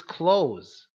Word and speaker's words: clothes: But it's not clothes, it's close. It's just close, similar to when you close a door.